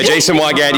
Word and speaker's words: Jason Weigandt: Yeah, Jason Weigandt. Yeah, that's right. But no one can pronounce it properly, so we just go with.